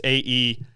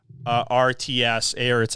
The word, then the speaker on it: Aerts: Her last name is spelled kind of interesting. It's Aerts, Aerts, I think is how you say it.